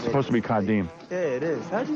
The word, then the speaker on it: Kadeem: It's supposed to be Kadeem.